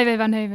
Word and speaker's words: Ivo van Hove: Yeah, Ivo van Hove. Is it Hove? Hove, yeah, you pronounce it.